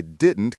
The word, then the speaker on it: didn't: I didn't catch that. The T at the end of didn't often disappears or becomes very soft.